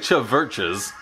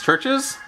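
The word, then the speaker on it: CHVRCHES: It looks like Chaverches, but I think it's Churches.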